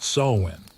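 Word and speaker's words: Samhain: That's pronounced sewing, as in you're sewing over your head with all these spirits.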